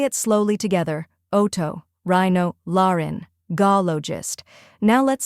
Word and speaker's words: otorhinolaryngologist: The correct pronunciation is otorhinolaryngologist. Let's break it into 4 parts to make the pronunciation easy. First part, oto, like the word auto. Second part, rhino, like rhino, the animal.